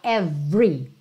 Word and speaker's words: every: novo esse every então lembra que por padrão esse e do meio do every não é pronunciado você fala every mas quando eu quero